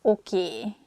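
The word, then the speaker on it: oké: it that way so we just say a sound a at the end so it sounds okie instead of okay and easiest excuse me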